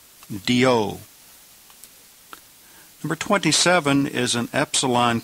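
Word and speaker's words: διό: Number 26 is a conjunction that means therefore or for this reason, and it's pronounced dio, dio.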